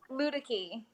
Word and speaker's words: Luedecke: of how do you say your name ludic II okay so it's not that difficult now and